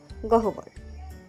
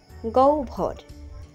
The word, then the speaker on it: গহ্বর: চলুন জেনে নেওয়া যাক অনেকেই উচ্চারণ করে থাকেন গহবর উচ্চারণ হবে গভর পাহাড়ের ভিতরে একটি গভীর